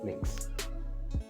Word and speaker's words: Mx: annex for them right and it's pronounced as mix now moving to the